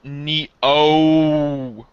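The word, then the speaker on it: Nioh: Sam killing demons so it's it's it's it's pronounced Neo that was awful I know that was she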